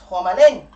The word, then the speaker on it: Homalyn: Because in Belize, where we have the Caribbean accents, you pronounce Homer, Homa. So it's Homalyn. That's how you actually say it.